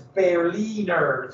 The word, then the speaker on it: Berliner: a citizen of berlin by the way if you say proper german it's barely nerves so he has that